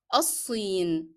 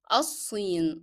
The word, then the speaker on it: الصين: Sod is a hard letter and is a shadda letter at the same time. So you will not be pronouncing the sound of lam in the definite article of al. It is الصين. So you move directly from alif to the shadda letter, which is sod.